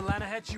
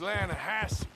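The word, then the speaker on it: Lannahechee: rode down to the Lana Hetchy River I caught some beautiful steelhead trout you mean the Lana no no no the Lana H it runs right near here yeah but it's pronounced Lana Hass why is everything in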